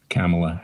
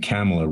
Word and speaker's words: Kamala: of being racist because they pronounced her name cameler rather than or kamala or god knows what the name is i don't know myself